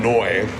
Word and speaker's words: Neu: I'm clearly the guitarist from Neu.